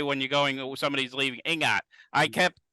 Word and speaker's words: Ingat: So they Kenny, might be do they saying have, Tagalog, but there's not a big emphasis on the G.